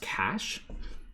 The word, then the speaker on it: cache: c-a-c-s sorry c-a-c-h-e um which is spelled really weird but it's pronounced cash and this is the